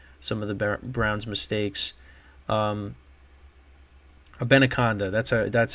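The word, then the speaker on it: Abanikanda: Abenaconda, that's how you pronounce it.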